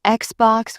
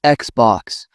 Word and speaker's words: Xbox: Some pronounce PlayStation with stress on the sta. It's PlayStation. I notice people say Xbox with stress on the box. It's Xbox.